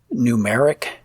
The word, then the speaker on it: Gnumeric: I use Numeric for spreadsheets, and again, that's spelled GNUMERIC, that GNU moniker.